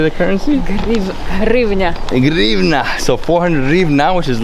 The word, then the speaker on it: гривня: Grivna.